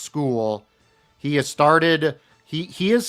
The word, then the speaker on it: Skule: It's pronounced school.